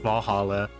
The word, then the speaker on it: VA-11 HALL-A: Good thing it's actually called Valhalla. The funny numbers and letters are just a code.